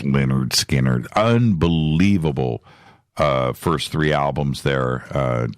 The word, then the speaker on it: Lynyrd Skynyrd: Pronounced Lynyrd Skynyrd, unbelievable first three albums there, just Ed King, right?